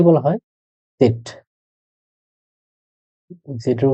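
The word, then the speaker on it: Zett: জেড কে বলা হয় সেট, জেড এর উচ্চারণ হলো সেট।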